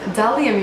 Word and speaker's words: Bdellium: This is the Delium tools, and it's Delium, you guys. I've been pronouncing it wrong all this time.